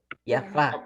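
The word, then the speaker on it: יפה: Yafá. Muy bien. Yafá, Yaforo, con acentos en la última sílaba.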